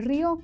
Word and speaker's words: rió: No es lo mismo que yo diga, el bebé se rió con su mamá, a que yo diga, yo me río de sus bromas. ¿Cierto? Cambia de significado por la acentuación.